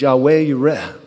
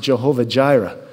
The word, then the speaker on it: Yahweh Yireh: All of us should know that one of God's names is Yahweh Yireh. Some pronounce it Jehovah Jireh, the God who provides.